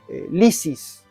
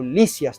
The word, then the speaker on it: Lisis: que vamos a leer se llama Lisis o Licias también. Y ahí tiene un diálogo entre Platón y un joven aristocrático llamado Lisas o Liisis, cualquiera de las dos pronunciaciones.